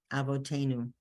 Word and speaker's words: avotenu: And is a vav. It's now acting as the letter V. V. And it has a dot. The dot is its vowel. So it's avo, avotenu.